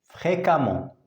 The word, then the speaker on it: fréquemment: elle pratique l'équitation fréquemment attention on écrit e et on prononce a fréquemment fréquemment elle parle aux employés de